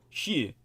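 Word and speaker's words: 四: And this is because the number 4, shi, rhymes with death in both the Chinese and Japanese languages.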